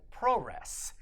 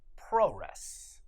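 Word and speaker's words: プロレス: But wrestling from Japan is called pro-res, and it's pronounced that way because the U's come out at whisper volume. Pro-res.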